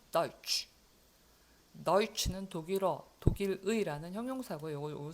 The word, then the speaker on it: deutsch: 이것도 오이 발음이 납니다. deutsch.